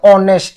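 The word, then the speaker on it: honest: তিনি কে বিরত থাকে দুর্নীতি থেকে সতলোক এখানে অনেস্টের এইস হচ্ছে কনসোনেন্ট বাট উচ্চারণটা হচ্ছে অনেস্ট ও এর উচ্চারণ যেটা ভয়েল সেক্ষেত্রে এখানে এন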